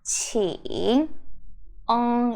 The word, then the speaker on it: 请: 请. ING is the ing sound. So 请. It's more nasal sound.